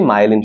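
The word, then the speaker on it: myelin: মায়েলিন শীথ। ওকে, তোমাদের বই মনে মায়োলিন লেখা না, আসলে সঠিক উচ্চারণটা কি? মায়েলিন। মায়েলিন শীথ বা মায়েলিন আবরণ। ওকে, মায়েলিনটা সঠিক উচ্চারণ, মায়েলিন।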